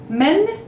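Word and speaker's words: من: Men, it's who. It's an M and noon, like mim and noon, but with an A sound, men. Men. Like in the plural for men, you would say men.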